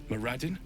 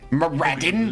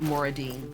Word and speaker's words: Moradin: Moradin. Okay. Moraden. Listen to me. Moraden. I was afraid. I was going to say I was afraid he was going to pronounce it Moredine. Moredine.